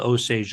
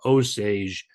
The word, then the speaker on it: Osage: When English speakers saw it, they pronounced it in English, simplified it to Osage, and well, there you go.